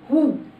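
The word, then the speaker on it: who: اما بقى لو جه بعد الدبليو اتش حرف الاو، الدبليو هي اللي بتبقى سايلنت فبقول هو. زي اداه الاستفهام هو من، هنا الدبليو هي اللي سايلنت، وعندي كمان هو.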